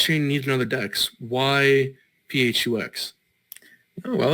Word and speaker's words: PHUX: I yeah we like to call it the pH ux but yes you can create okay phux right